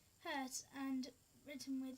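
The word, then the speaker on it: Hertz: by the way frequency is Meed by Herz pronounce h Herz and written with h z what so higher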